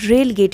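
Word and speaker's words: relegate: रेलीगेट का मतलब होता है ना कि रेलगेट इसको कहेंगे, रेलगेट, इसका प्रोनाउंसिएशन होगा रेलगेट।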